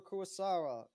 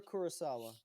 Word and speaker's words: Kurosawa: blood by the legendary akira kuasara kuro akira kurosawa i don't know why i mispronounced that it's not a hard